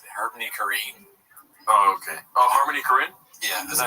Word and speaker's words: Harmony Korine: Oh, Harmony Korine?